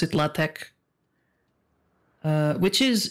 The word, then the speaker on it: LaTeX: like latex but it's um it's spell you pronounce it latek uh which is it's a like a semi